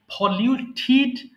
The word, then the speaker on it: polluted: আবার বলছি, ফলিউট দূষিত করা, ফলিউট, ফলিউটিড, ফলিউটিড। বাক্যের শেষে টিডি অর্থাৎ শব্দের শেষে টিডি থাকলে অবশ্যই ঠিড উচ্চারণ করবেন।